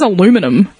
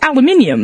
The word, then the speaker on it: aluminium: Like, for instance, like, what the fuck is aluminum? Like, it's aluminium.